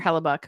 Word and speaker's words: Hellebuyck: I said Connor Hellebuyck, which is exactly how we pronounce it.